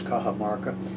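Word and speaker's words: Cajamarca: back over that again it's spelled c-a-j-a-m-a-r-c-a our English letters kaha Marca at any rate the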